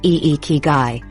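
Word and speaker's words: ikigai: Ikagai pronounced eekai which translates roughly to your reason for being.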